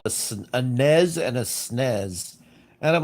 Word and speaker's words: SNES: a NES and a SNES. And I'm like, there's no freaking Z there. There's no Z. There's no Z. It's not NES. It's not SNES. It's SNES. It's a short S sound.